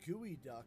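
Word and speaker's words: geoduck: serious oh my God it's actually pronounced gooey duck and of course it it's not related to the birds thank you for spelling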